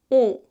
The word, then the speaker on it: ㅗ: And for U, you must round your lips like this. And as for the tongues, both are positioned toward the back, like here, but the height is different. For U, the tongue is around the middle. U.